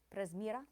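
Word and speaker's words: Prezmyra: Presmira on the second. Presmira.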